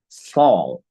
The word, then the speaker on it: fault: no fault, eso se pronuncia fall. It was my fault. Ni siquiera la T ni la L suenan.